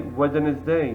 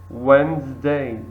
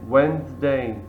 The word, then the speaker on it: Wednesday: Wednesday we don't say wedes day we say Wednesday Wednesday or the letter k in kn we don't say knife we say knife K is silent D is silent for example here number